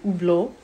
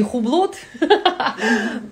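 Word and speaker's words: Hublot: Итак, правильно произносятся часы Убло. То есть Т на конце не говорится. И H тоже не Хублот. Убло.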